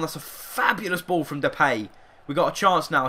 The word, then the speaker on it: Depay: from there pinho mate I must remember to call him depay because that is actually his pronunciation I have no idea why for so many years I've called him the pay it's just the way it's spelled I suppose and a